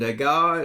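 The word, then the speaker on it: Degas: Uh Renoir and Dega is how you say these names.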